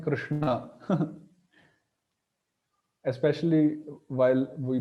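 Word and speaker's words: कृष्ण: place of pronunciation this the upper sha is known as cerebral sha or Mur sh where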